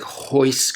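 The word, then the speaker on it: Royce: beginning of a word it becomes an H so his second R in cardo that R is an R like a normal R but the the first one becomes he so that's why I'm pronouncing is named that way in case you're wondering so just like hoist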